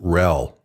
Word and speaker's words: RHEL: By the way, you'll often see Red Hat Enterprise Linux abbreviated as RHEL and pronounced RHEL.